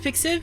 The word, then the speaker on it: pixiv: It's pronounced Pixiv?